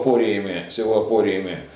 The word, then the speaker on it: апория: Вот, скажем, Зенон, да, с его апориями, или, точнее говоря, апориями, хотя ударение уже и так делать, но все-таки правильно, если следовать греческому языку, надо говорить апория.